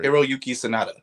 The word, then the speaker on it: Hiroyuki Sanada: Hiroyuki or Hiroyuki Sanada. Hiroyuki Sanada, is that what your name was looking for?